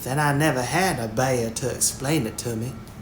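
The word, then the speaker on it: Bhaer: at his horrid name it isn't pronounced either bear or beer as people will say it but something between the two as only Germans can give it I'm glad you both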